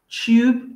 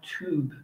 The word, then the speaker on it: tube: But it's pronounced tube, even though it's written like tube, okay? But we say tube.